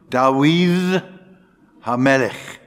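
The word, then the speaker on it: דוד המלך: The Hebrew, Kavar, Kever, which is tomb, Dawid Hamelech. I'm pronouncing the Hebrew the way it should be pronounced, not the way it is pronounced today.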